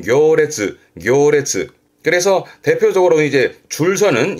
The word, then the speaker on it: 行列: 대표적으로는 행렬 가보지요. 발음은 교레츠.